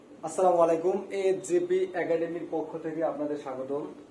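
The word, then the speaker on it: へ: হানায় পড়ছি কি এটার উচ্চারণ হে কিন্তু এটা যখন পার্টিকেল হিসেবে বসবে তখন এটার উচ্চারণ কি? বাংলায় হবে এ।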